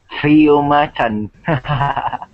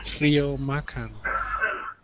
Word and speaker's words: Trio Macan: Did I pronounce that correctly? Trio Macan. Trio Macan.